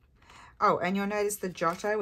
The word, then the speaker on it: Giotto: Oh, and you'll notice the Giotto, it's not spelt with a J. It's spelt with a G-I, because as I think I mentioned the other day to you, G-I is the J sound in Italian, for Italians.